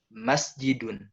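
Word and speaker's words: مَسْجِدٌ: Dit enggak ada tapi kita harus tekan di Huruf pertamanya masjidun masjidun Bukan masjidun gitu itu kan itu pertama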